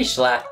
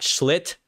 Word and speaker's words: Schlatt: You pronounce his name correctly. Yeah, I do pronounce his name correctly. Not Schlitt, not Schlug. Ooh, all right.